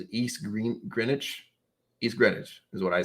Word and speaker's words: East Greenwich: East Greenwich is what I say.